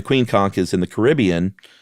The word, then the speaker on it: Caribbean: conk is in the Caribbean or is it Caribbean because I heard someone say it once it's the Caribbean yeah you have to say it like you're about to sing the Billy Ocean song yeah Queen yeah but